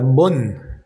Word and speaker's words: bon: La palabra bon n se dice un. Entonces queda buom.